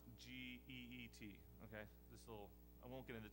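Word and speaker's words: Kit: Well, let me introduce you to Geet. It's spelled K-I-T, but it's pronounced G-E-E-T.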